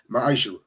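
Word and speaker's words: מעשר: It means 10th in Hebrew, and it's pronounced ma'ashera.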